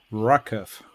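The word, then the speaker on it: RWKV: yeah on their main Repository it says it's pronounced as rockef rocket rocket yeah I guess I'll I'll stick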